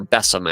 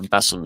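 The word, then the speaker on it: besom: in a specific application so like beome or bessam actually I think is how it's pronounced U Mark Ward mentioned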